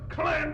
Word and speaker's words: clan: It's pronounced clan.